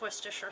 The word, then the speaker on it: Worcestershire: of these let's see yep two tablespoons of worcestershire sauce and that's how you say it too